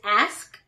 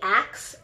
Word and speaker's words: ask: correct it so whatever this word a lot of people mispronounce even if you do not stutter so this one's actually part mishaela wrist on the wrist list is ask so ASX so a lot of people say ax ax I do some